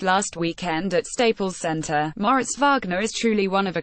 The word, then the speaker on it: Moritz Wagner: weekend at Staples Center Moritz vogner is truly one of a kind the junior forward who pronounces his name more Rhett's vog ner according to the immediate guide and who has grown